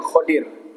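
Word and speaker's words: Khidr: Ada yang bacanya Khidir, ada yang Khodir. Tapi bacaan-bacaan saya lebih menguatkan Khodir. Ya, walaupun ada yang membacanya Khidir.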